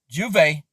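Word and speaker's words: J'ouvert: b jordan to rename juve that's how you pronounce it in french rum after nicki minaj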